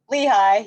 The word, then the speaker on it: Lehigh: yes here and then uh sorry if i mispronounced this but the lehigh valley health network lehigh yep lehigh okay that was my gut but